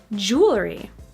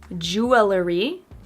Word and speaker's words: jewelry: Number 6, jewelry. Not jewelry, but jewelry. Jewelry. So we cut out an extra syllable there.